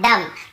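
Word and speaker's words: dumb: लेकिन ज्यादातर आप देखेंगे ये सब वर्ड्स में हम एम के बाद बी का उच्चारण नहीं करते हैं। कॉम, बॉम, थम, डम, थंब ऐसे बोलते थे, याद रखिए।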